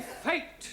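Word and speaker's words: fête: exeptions to the rule for example f e t e is also pronounced fate yeah one right no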